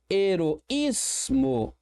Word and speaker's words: heroísmo: Percebe que eu tenho um hiato aqui entre o O e o I. E este I tônico está ou sozinho na sílaba ou acompanhado da letra S. Recebe acento sim.